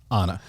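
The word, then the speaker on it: Ana: it Anna De armas or Anna Anna okay Anna so she's in it Ryan Gosling Chris Evans I mean just just those three people being in the movie to begin with a reunion of Anna and Chris Evans from knives out right which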